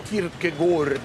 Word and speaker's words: Kierkegaard: Ragazzi, avete letto sul manuale le note su Kierkegaard, che poi si dovrebbe pronunciare Kierkegaard, ma vi risparmio, l'avete lette?